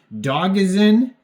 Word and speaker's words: Dogizen: It could be pronounced Dogizen, but Dogizen sounds a lot better, so I'm just going to go with that.